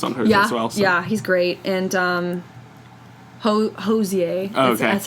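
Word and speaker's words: Hozier: did it was on yeah he's great and oza that's how you say his name he's going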